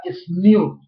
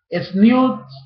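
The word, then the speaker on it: tzniut: La palabra humildad en hebreo es una de las palabras que significan humildad, es la palabra sniut. Sniut se escribe, para los que toman apuntes, T-Z-N-I-U-T, sniut.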